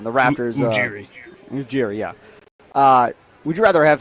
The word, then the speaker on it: Ujiri: Ujiri, yeah.